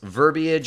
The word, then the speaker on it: verbiage: okay here we go carriage and marriage have two syllables but verbiage and foliage have three try not to say